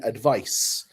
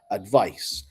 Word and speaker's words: advice: So the pronunciation advice, it's more of a s sound, advice.